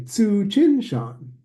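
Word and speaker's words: Tsuchinshan: So this comet is pronounced Tsu, TSU, Tsu, everybody now. Chin, Shan, everybody. Tsu, Chin, Shan.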